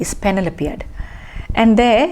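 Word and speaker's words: Penelopiad: she has written a very small book called panel appeared panel appeared p e n e l o p e is the spelling of penelope p e n e l o p i a d is panel appeared and there it's very entertaining book you would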